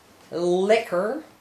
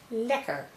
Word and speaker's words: lekker: So it's not lekker, it's lekker, which means tasteful.